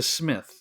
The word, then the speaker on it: Psmith: Wodehouse, Leave It to Smith. The P is silent.